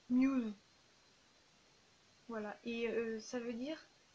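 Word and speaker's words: μ's: Et elle dit un truc comme ça, ça se prononce Muse.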